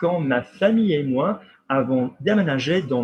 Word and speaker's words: famille: Now, famille is an irregular, same as the word daughter. Ma fille. You don't pronounce the L even though there is an E after the L.